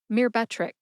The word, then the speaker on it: Myrbetriq: It is Myrbetriq. Myrbetriq has 3 syllables. They are mir, like a mirror, as in always look